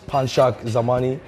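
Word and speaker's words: Panshak Zamani: gymnastics are you happy my real name is panchak zamani that is spelled p-a-n-s-h-a-k zamani is z-a-m-a-n-i I'm from Jaws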